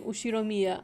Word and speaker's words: Ushiromiya: asking the first part is my family name ushiromiya okay thank you that's a very plausible japanese pronunciation so far the problem is my given